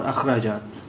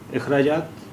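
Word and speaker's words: اخراجات: इखराज, इखराजात और अखराजात. इखराजात, we may also pronounce it as अखराजात.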